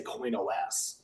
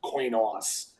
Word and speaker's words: Coinos: Some people just say Coinos because it's coin operating system, right? That's what the word comes from, but Coinos is actually the most proper way to say it.